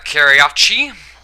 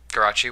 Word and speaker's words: Karachi: this one's on uh karayachi karachi whatever wing's redemption referred to karachi as karayachi and he thought you know like it'd be a fun way to pronounce that and i've just kind